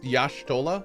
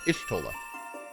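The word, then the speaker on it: Y'shtola: know of etheric behavior let's do it it's pronounced yashtola all right it was i thought it was ishtolah let us begin at what some might call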